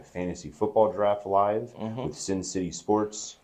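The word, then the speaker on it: Cin City: We're going to do like a fantasy football draft live with Sin City Sports. Not Sin City Sports. Is that what they're called? I think so. Sin City, but it's spelled like C-I-N, like Cincinnati.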